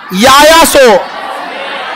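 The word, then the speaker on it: Yaya Tso: जैव विविधता विरासत स्थल याया सो याया सो याया सो देखिए टी साइलेंट होता है याया सो झील कौन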